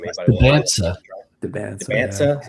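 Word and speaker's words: Dybantsa: Debansa.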